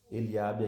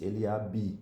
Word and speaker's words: Eliabe: Eliabe aqui tem o B mudo no final, então a gente não diz Eliabi, nem B, né? A gente diz o B mudo, Eliabe.